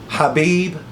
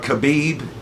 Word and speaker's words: Khabib: Hhabib or Khabib if you're American like me and we're slow to how you pronounce people's names or the way they pronounce it.